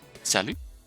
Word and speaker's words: salut: her full name sanomia to be pronounced identically to salu a casual french salutation used among close people